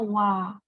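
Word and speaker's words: は: Perhatian, partikel ini dibacanya wa.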